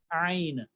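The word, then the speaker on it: ع: So it is ain. All right, ain from the throat, ain, ain, ghain.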